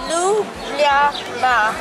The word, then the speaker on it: Ljubljana: If you guys are wondering how this translates into Ljubljana, this is actually how you pronounce it. Ljubljana.